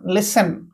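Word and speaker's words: listen: राजमहल सेंती देखंतु एठी टी को साइलेंट लिस एन लिसन ओके सुनिबा लिस एन लिसन सेंती एठी देखंतु व्हिस डब्ल्यू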